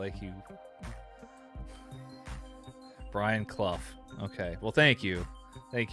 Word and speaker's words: Clough: Or at least that's how I've heard it pronounced before. Maybe I'm wrong. Maybe Graham or JB can Clough. It's Clough, not cloth. Like you. Brian Clough.